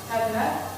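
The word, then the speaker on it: ἡδονή: So, hedonism comes from the Greek hedone, for pleasure. It's spelled with an eta, which is a long E.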